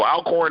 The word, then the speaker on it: Alcorn: okay um anyway so I'll corn in two syllable Alcorn State vs Jackson State